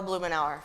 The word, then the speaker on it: Blumenauer: Our strongest congressional advocate for sound floodplain management is the Honorable Earl Blumenauer from Oregon's 3rd District.